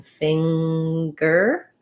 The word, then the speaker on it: finger: sometimes they can say like in finger they do say the ng sound and the g sound in that case the